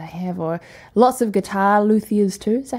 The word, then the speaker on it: luthiers: anything that they have, or lots of guitar luthiers too.